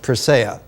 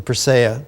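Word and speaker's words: Persea: tree of life uh in ancient egyptian it's pronounced perseya the persaya tree each leaf of this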